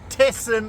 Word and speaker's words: Thesen: to knysna we're on tessen island they say it like that testing but what a beautiful